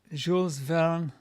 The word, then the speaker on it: Jules Verne: I am French and you pronounce Jules Verne properly.